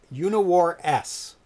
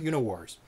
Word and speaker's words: UniWarS: would play tonight uh uniwar s is how it's actually pronounced there is a space it's not universe so there's three new